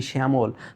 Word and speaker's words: শ্যামল: এর মত আওয়াজ করছি শ্যামল সজামল বলার কথা আমাদের আমরা বলছি শ্যামল তার মানে শব্দের শুরুতে